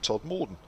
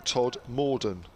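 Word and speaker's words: Todmorden: west yorkshire town you've been talking about is pronounced todd morden rather than todd morden that you've been saying i can recommend the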